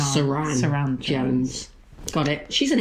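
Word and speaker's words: Suranne Jones: Don't get her name wrong because we'll call her Susan. No, Saran Jones.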